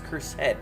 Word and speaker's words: cursed: That first word is 2 syllables. Cursed wand. Oh, it's not cursed wand. It's cursed wand.